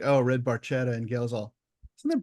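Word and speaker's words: Barchetta: is red Baretta and I I don't say red barquetta because Getty Lee says Baretta yeah he's not Italian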